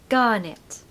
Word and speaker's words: garnet: Stress the first syllable. So gar, no R, of course. Gar. And then in the second syllable, we need nit, which is a short I, okay? Garnet.